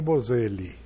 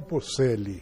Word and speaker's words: Boselli: Sendo o nome italiano, é Bocelli. Sim. Se for pronunciado como espanhol, é Bocelli.